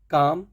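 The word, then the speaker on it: calm: एल कैसे silent है काम कालम नहीं काम नेक्स्ट है बाम बालम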